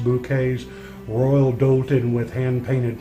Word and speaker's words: Bucket: Up Appearances, this is hyasin bucket pronounced bouquets, royal dolan with hand painted periwinkles.